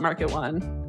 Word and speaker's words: MKT1: We call it market1, but you could call it mkt12.